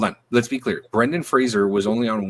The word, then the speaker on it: Fraser: Brendan Fraser, they used up Freezer. Say it right. Brendan Fraser.